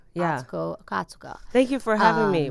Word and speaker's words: Atsuko Okatsuka: We are here with the amazing comedian, host, podcaster, the woman extraordinaire, Atsuko Okatsuka. Did I say it right? Yes, Atsuko Okatsuka. Yeah. Atsuko Okatsuka.